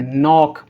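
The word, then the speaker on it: know: हमारा रूल कहता है कि जब कभी भी एन से पहले के को लिखा जाएगा तो के साइलेंट होगा। तो इस हम क्या पढ़ेंगे? नॉक, need, knife, नो।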